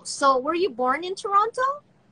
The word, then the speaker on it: Toronto: So were you born in Toronto? Toronto, that's how I pronounce it. Not Toronto, but Toronto.